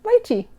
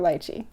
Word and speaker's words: lychee: I could talk about roses too, but today we're going to talk about lychee. So, am I saying it wrong? Well, it depends on who you talk to. Lychee or lychee.